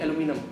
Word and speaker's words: aluminum: there is yeah aluminium we call it aluminium and aluminium but in america they call it aluminum aluminium aluminum something similar but they don't say aluminium okay okay so i